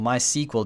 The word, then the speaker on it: MySQL: is my SQL databases on my sequel databases that's actually how this word is pronounced I know I'm probably